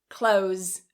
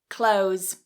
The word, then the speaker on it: clothes: Well in Rapid speech, what many native speakers do is instead of trying to pronounce that TH in clothes, we cut the TH and we say close, close.